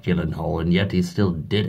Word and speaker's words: Gyllenhaal: I'm pretty sure he even knew that it was pronounced Gyllenhaal and not Gyllenhaal, and yet he still did it.